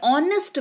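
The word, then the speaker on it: honest: पर ऑनेस्ट में एच का उच्चारण नहीं हो रहा है।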